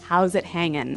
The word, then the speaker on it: how's it hanging: ing right yeah but usually you don't really pronounce the G in this context cuz it's very informal so how's it hanging how's it hanging so